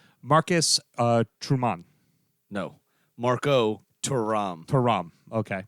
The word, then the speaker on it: Marcus Thuram: Marcus Thuram, if you Yes. really want to say it correctly. Right, because he's a Frenchman.